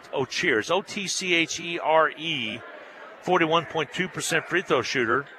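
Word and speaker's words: Otchere: O'Cherry, well, now they pronounced O'Cherry, but I'm going to stick with O'Cheers.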